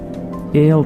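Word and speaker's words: aisle: क्या आपको पता है एल सीट इसमें एस को प्रोनाउंस नहीं किया जाता याद रखिए ठीक है अच्छा जी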